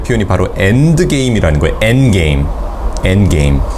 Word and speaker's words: endgame: 엔게임. 엔게임. 이게 D가 잘 발음이 안 되죠?